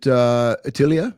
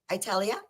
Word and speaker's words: Italia: Is it Atilia? Did I say it right? Italia. Italia says, hey there.